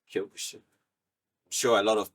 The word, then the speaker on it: Kyokushin: which obviously I'm practicing, Shotokan is different from Kyokushin as well. Kyokushin is a bare knuckle, full contact form of karate. Okay. And as the name sounds, Kyokushin.